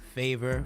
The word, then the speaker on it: Phaver: I also encourage you to download Favor. That's spelled with a P, Phaver. Download that from the Apple App Store and follow Connect the Coast. If you do, I can get you some Favor points, which will soon